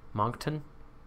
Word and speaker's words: Moncton: uh the next that's a UFC monk tuck Moncton that's how it's pronounced Moncton mo NCT Owen Moncton right marketin yeah I